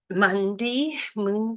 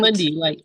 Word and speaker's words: Mundy: But he pronounces it Mundy.